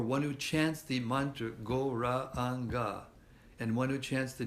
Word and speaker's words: Gauranga: We say it Gauranga, but it's actually Gauranga, 4 syllables.